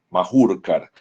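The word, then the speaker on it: Mahurkar: Este catéter se llama un catéter Majurkar, se escribe con H, M-A-H-U-K-A-R, Majurkar.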